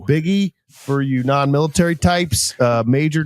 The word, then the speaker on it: Buege: Buege, pronounced Biggie.